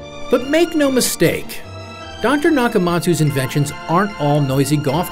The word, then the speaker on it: Nakamatsu: He dropped the letter U because he says an 8-letter name is easier to remember, but he still wants you to pronounce it Dr. Nakamatsu.